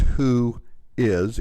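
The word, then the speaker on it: WHOIS: is and it's it's the phrase is pronounced who is even though it's written as one word is a query and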